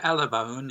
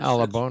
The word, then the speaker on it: Alabone: Exonation, our guest this hour is Alabon. And, am I pronouncing your family name correctly? Yeah. Alabone. Yes. Alabone.